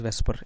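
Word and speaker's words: VSEPR: हुआ है ठीक है एक्रोनिल फॉर वेस्पर is pronoun S pronounced as वेस्पर इसको हम लोग वी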